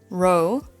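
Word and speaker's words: rho: Row, that's how you pronounce it, is the air density.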